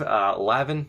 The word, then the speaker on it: Levine: Bellerive, Lavin, even though it's spelled Levine.